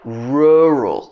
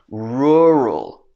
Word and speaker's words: rural: lettuce next one rural this is difficult because we have two r sounds okay this is more like rural when we say rural rural for countries where it's you don't have the r r sound this can be really really difficult rural rural life and